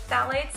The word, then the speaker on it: phthalates: The next dangerous chemical to look out for that is not in any natural skincare are called phthalates. It's spelled a little bit differently, but it's pronounced phthalates.